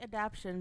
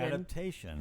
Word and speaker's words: adaptation: You're saying adaption, but it's adaptation. adaptation. So, you're missing a chunk of the syllable.